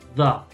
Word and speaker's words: the: Yo estoy escuchando que lo pronuncias como de, ¿verdad? De. Pero no es de. Es más. Va, tiene dos formas de pronunciar. Normalmente es da. Da. Como una A, ¿vale? Da. Por ejemplo. The mother. The mother. Pero a veces se pronuncia the, como una I.